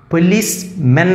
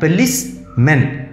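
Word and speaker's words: policeman: പക്ഷേ അതിൻ്റെ ഉച്ചാരണം പോലീസ് മെൻ എന്നാണ്, പോലീസ് മെൻ മാൻ എന്നാണ് നമ്മൾ എഴുതുന്നതെങ്കിൽ കറക്റ്റ് ഉച്ചാരണം എങ്ങനെയാണ്, മെൻ. പോലീസ് മാൻ അല്ല, പോലീസ് മെൻ, പോലീസ് മെൻ.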